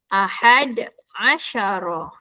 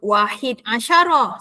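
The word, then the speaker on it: أحد عشر: Tetapi 11. 11 bunyinya ialah ahada. Asyara ahada asara ahad asyara. Jangan pula sebut wahid asyarah. Salah ya. Salah.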